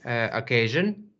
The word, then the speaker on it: occasion: Okay, occasion. Which syllable is stressed? Second. Yes, very good.